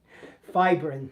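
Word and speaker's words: fibrin: fibbrin puss and fibbrin.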